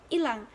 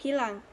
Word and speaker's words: hilang: Selanjutnya, yang ketiga adalah pada kata hilang. Dalam bahasa tidak baku, pengucapannya adalah ilang, sedangkan pengucapan dalam bahasa baku adalah hilang.